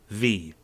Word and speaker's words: VVVVVV: v composed by magnus paulson six vs but only pronounced with one a game that looks in